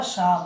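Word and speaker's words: psalm: एस ए एल एम, तो यहाँ एस के पहले पी आ रहा है तो पी साइलेंट रहा, और एम के पहले एल आ रहा है तो एल साइलेंट रहा, इसलिए इसको क्या बोला था?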